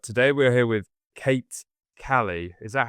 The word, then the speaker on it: Kali: But today we're here with Kate Callie. Is that how you pronounce it? Or is it Calli? Kate as in the goddess. the goddess of sexuality and destruction.